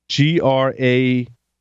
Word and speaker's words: GrapheneOS: GRAPHENEOS. There's also Lineage as well. Graphene OS. Lineage is the one I was familiar with. Yep, and Lineage is out there too. They were big on the Graphene OS, which is an open source, but they were